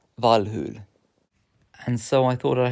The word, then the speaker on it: Valhalla: Who knew that Valhalla was actually pronounced Valhul?